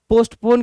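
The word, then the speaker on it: postpone: बहुत सारे लोग इसको क्या समझ के बैठे हुए हैं? पोस्टफोन। क्या समझ के बैठे हुए हैं? पोस्टफोन समझ के बैठे हैं कि हमने इवेंट क्या किया? पोस्टफोन कर दिया। तो पोस्टफोन गलत है।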